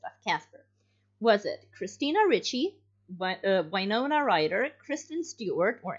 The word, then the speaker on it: Ricci: I'm 98% sure that it was Christina Ricci or Ritchie. How do you say that? Ritchie for pronunciation. Yeah. At least what I've heard.